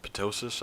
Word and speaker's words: ptosis: has a condition called ptosis, I believe it's called, or maybe just ptosis, maybe the P is silent, in which your eyelid is sort of draped over a little bit on one eye.